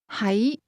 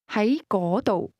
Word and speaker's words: 喺: That question contained both the words to be, pronounced with a low-level tone, and to be located, pronounced with a mid-rising tone.